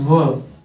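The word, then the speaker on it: were: इसको वेयर बोलते हैं लोग, लेकिन वेयर नहीं, इसको वर बोलेगा।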